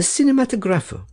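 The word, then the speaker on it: cinematografo: That you were seen at that very hour at the Kirkhouse, in the Cinematographo. Herr Settembrini gave the word the Italian pronunciation, with the accent on the fourth syllable.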